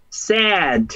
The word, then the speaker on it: sad: No es sad, ¿cierto? Es sad. Con la, es una vocal inglesa que es una mezcla entre una E y una A.